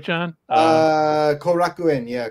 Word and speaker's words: Korakuen: the baseball field uh Cor I believe I'm pronouncing that right right John uh korakuen yeah Kaku yeah but um so Shinzo was on they